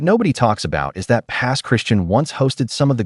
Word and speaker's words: Pass Christian: Number five, Biloxi adjacent, Pass Christian, Mississippi. Mississippi earns another slot, and this one surprises people every time. Pass Christian, locals pronounce it Pass Christian, sits on the Mississippi Sound between Gulfport and Bay Saint Louis.